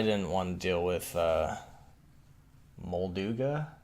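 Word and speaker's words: Molduga: want to deal with mold ooga it's how you pronounce it and we'll do guy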